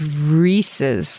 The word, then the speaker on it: Reese's: It's Yeah, it's Reese's. Like it rhymes with pieces, not Reese's Pieces.